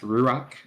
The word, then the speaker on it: ruach: But in that chaos, God's spirit or is I think it's pronounced ruach is already there. It's a Hebrew word.